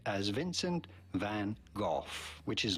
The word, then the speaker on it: van: Van is not correct, but rather in Dutch they say van. Van. Shorter with a more open A sound.